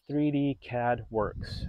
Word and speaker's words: 3DCADWURX: our fuse box covers so the company is called 3D CAD Works uh spell it by 3 d c a d wurx and they're a company